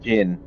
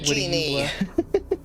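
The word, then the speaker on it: Djinn: Also, it's actually pronounced Jin. Data Genie!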